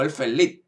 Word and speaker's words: Elfen Lied: Pues a mí me encanta, que es Elfen Lied, o Elfen Lied, como se pronuncia realmente.